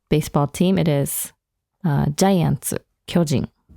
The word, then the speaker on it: 巨人: And it's pronounced 巨人 in baseball. Whereas if it's just a term for a giant, it would be 巨人. So, you know, there's a slight difference in intonation or pitch there.